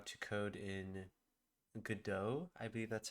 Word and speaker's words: Godot: I'll probably just be doing mostly a muted stream, but I will be learning how to code in Godot. I believe that's how you say it. Godot.